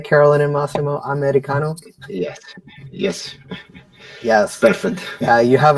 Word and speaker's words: Eddie Cano: Let's see if I can pronounce that right. Did I get that right, Carolyn and Massimo? Eddie Cano?